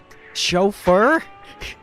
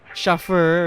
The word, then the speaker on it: chauffeur: Pronunciation. Chauffeur? I thought it'd sound cooler. Chauffeur or something like that, but chauffeur.